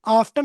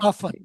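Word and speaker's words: often: लेकिन आफ्टन अक्सर अगर अभी भी बोल लेते हैं, लेकिन मॉडर्न इंग्लिश में आप वो टी छोड़ दो, लिसन, साइलेंट। ऑफन, right.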